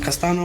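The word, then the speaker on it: Castaño: Castano?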